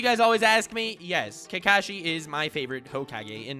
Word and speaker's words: Kakashi: And since no one is ever happy with how I pronounce him in any videos, I'm gonna call him both for this entire video. So Kakashi.